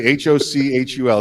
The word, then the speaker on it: Hochul: Hochul, Kathy. Exactly. Hochul. It sounds like she's choking on something.